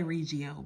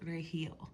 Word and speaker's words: Regio: I always say rigio, but my Hispanic friends always remind me that it is pronounced reill. We don't pronounce the G in Spanish.